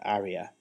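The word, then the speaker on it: Ayria: I really liked Aria, which I think they pronounce area, as in an operatic area, but it's spelt with an AY.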